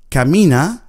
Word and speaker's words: camina: If you wanted to ask somebody to walk slowly, you would ask, camina despacito. Camina, composed of three syllables.